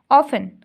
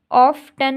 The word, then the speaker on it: often: ऑफन, ऑफ्टन नहीं बोलते हम, ऑफन बोलते हैं, OFTEN, ऑफन, टी यहाँ पर साइलेंट है।